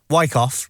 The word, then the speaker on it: Wyckoff: Wyckoff.